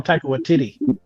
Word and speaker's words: Taika Waititi: You just gotta call him Taika Waititi. TT. It's even spelled weird. It's not even. It's spelled.